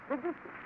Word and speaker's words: Debussy: Well, the man's name is Claude Debussy. It should be said quickly. Debussy. Well, no matter how I